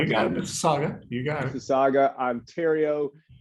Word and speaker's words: Mississauga: Visco, 58 years young today, the pride of Mississauga. I'm going to mess it up. All right, I'm going to let you pronounce it. You got it, Mississauga.